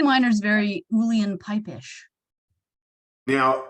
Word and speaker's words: Uilleann: Uilleann, yeah. Uilleann like chillin', except Uilleann.